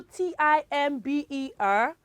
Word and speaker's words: timber: We have some words where letter B comes after letter M and it is all pronounced clearly. It is not silent.